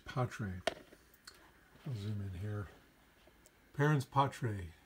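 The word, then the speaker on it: parens patriae: i'll zoom in here parentspotray it's how you uh pronounce that and i'll kinda zoom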